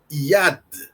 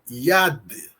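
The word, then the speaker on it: יד: Mais uma palavra, IAD. IAD. Yud, sin maçorético a E o dalet que tem som de D. Yad significa mão.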